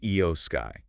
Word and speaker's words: Iyo Sky: Okay, but first, just quickly, pronunciation. The champion, her name is Io Sky, just so we're all clear on that one.